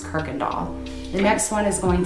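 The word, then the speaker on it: Kuykendahl: that's where it derived from but it is pronounced kirkendall the next one is going to be humble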